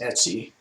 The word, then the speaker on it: etc: issue now let's ls etsy and this was pronounced etsy before the the e-commerce site etsy spelled differently became popular so this is slash etc pronounced etsy is where a lot